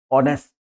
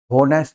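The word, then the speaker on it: honest: के ये शब्द है ऑनेस्ट होनेस नहीं एच को छोड़ दीजिए को छोड़ने के बाद यहां से इसका उच्चारण होगा ऑनेस्ट यानी कि वल की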